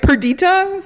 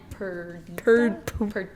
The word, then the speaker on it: Perdita: Perdita? Yeah, Perdita. Something. I don't know. It's Viola and Perdita.